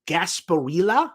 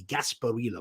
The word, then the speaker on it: Gasparilla: Fenway Park or now I'm not sure exactly how you pronounce this this is actually a big Festival in Tampa uh it's basically their Mardi Gras that's Gasparilla I believe is how you pronounce that maybe some friends in